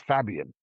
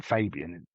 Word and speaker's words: Fabian: That's the English of me, calling him Fabian. His name's Fabian. But being English, we just say Fabian.